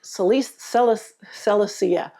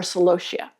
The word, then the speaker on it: Celosia: Pink Celosia or Celosia. Depends on who you are, how you pronounce it.